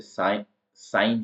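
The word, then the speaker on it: sign: बन रहा है कि एन के पहले लगने वाला जो जी होता है उसमें जी का साउंड नहीं आता है तो साइन जिसका मतलब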